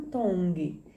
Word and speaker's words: Tongi: You pronounce the T's like a D in the Tongi culture.